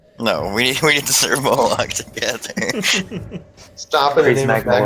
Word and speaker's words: Moloch: Malik, not Moloch. Okay, so you've mispronounced the name of your god. No, we need to serve Moloch together.